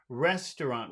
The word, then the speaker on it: restaurant: Restaurant. Which syllable in that word restaurant has all of the power? Rest, Res. rest to rest, rest. Yeah, Restaurant.